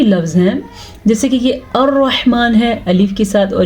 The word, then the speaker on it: الرحمن: الرحمن علم القرآن۔ الرحمن، سب سے پہلے را کو پر پڑھنا ہے کیونکہ را کے اوپر زبر ہے۔ ہا کے تلفظ پہ آپ نے دھیان دیا کہ کتنا کلیئرلی اس کو میں نے پڑھا، اسی طرح آپ نے بھی پڑھنا ہے۔ ہا کو ہا پڑھنا